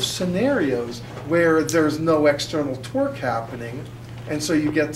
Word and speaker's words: torque: Anyone thinking torque? Never mind. See, because the guy sitting next to you, please, Sahara, would you like to explain it to everyone? Torque rhymes with door.